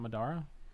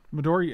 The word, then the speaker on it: Midori: It's not Madara? Is that what I'm saying around? Midori, it's Midori, Michael. Like a Midori sour.